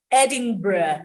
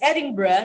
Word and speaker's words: Edinburgh: Again, if you went to England for the first time and you were visiting Edinburgh, it's Edinburgh, not Edinburgh. It's spelled Edinburgh, but it's Edinburgh.